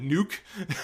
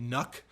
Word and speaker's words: NUC: I've often called it nuke just to be funny but it's but most people are pronouncing it nuck uh and and the